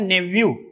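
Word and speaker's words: nephew: इसको हम नेफ्यू बोलते हैं, जबकि इसका राइट प्रोनाउंसिएशन होता है नेव्यू।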